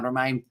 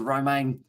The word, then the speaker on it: Romain: It's a Romain, would be pronounced like Roman in English, by the way, says at the Big V8 show.